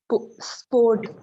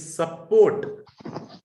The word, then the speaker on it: support: Kaval sport. Not sport. It's support. Support.